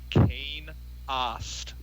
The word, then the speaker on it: Kane Ost: It's pronounced Kane Ost. Kane Ost? Ost.